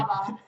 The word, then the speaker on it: Saraba: You've got to pronounce it correctly. Saraba.